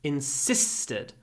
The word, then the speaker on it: insisted: the stressed syllable but the vowel is hardly pronounced between the two long but unvoiced s sounds insisted she insisted on feeding